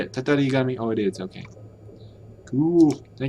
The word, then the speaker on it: Tatarigami: Tatarigami.